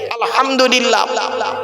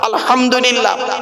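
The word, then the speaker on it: الحمد لله: আমরা আরেকটা ভুল করি সূরা ফাতিহা পড়তে গিয়ে আলহামদুলিল্লাহ আলহামদুলিল্লাহ এই গলার ভেতর থেকে হেটা উচ্চারণ করবেন হায় হুটি হায় হাবজ নয় আলহামদুলিল্লাহ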